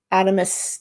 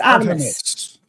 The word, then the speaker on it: Artemis: hadn't seen happen before, a little snippet of Artemus 2. Artemus 2. A Aramus. What, how do you say it? The spaceship that went up to the moon. Aramus. Artemis.